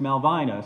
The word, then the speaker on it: Malvina: to their great-great-granddaughter who says that her name is pronounced malvina so you learn things